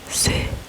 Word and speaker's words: serrurerie: E R I E Je sais pourquoi c'est le cauchemar des noms francophones, c'est parce qu'il y a 4 R dans le mot et les R, c'est pas la lettre la plus facile à prononcer.